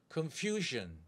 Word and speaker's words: confusion: 할 때 strang on the pressure pressure confusion confusion confusion confusion 다음에 발음 승입니다 텔텔 pleasure pleasure confusion confusion confusion